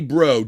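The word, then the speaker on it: Breaux: His name's Joey Bro. Joey. B R E A U X. You spell it like the old cinjun or bro.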